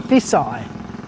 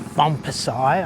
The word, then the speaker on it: Phon Phisai: I'm sure it's Fisai. No, it's Fisai. Not Bumpai.